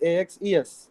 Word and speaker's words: axes: singular of so singular axis is axis, the plural of axis is axes. So when you are referring to two or more axes, you call it axis, axes. When you are referring to single axis, then you spell it as axis.